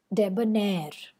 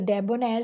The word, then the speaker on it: debonair: this particular way whereas stress comes at the end of the word debonair so the both are short unstressed syllables and ner is the long or stressed syllable souvenir so were they